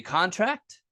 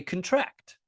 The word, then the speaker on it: contract: When we say a verb, we put the emphasis on the last syllable, right? And then this vowel sounds totally different. It's not an aw sound anymore. It becomes more of a schwa, right? Contract. If we say contract, then